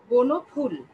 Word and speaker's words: বনফুল: হবে ফুল বলবো না আমরা আমরা বলবো ফুল বনফুল আচ্ছা সঠিক উচ্চারণ হচ্ছে ফুল তো যারা বলছো নিমগাছ বনফুল